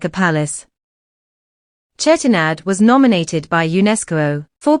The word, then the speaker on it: Chettinad: think about food but chettinad has a great history here is the story of chetanad chettinad is commonly pronounced as chetinadu the name chettinad literally